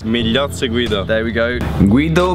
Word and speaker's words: Migliozzi: I've been here for a couple of days filming with one of our brand ambassadors, Guido Migliozzi, I think his name is pronounced. Migliozzi Guido.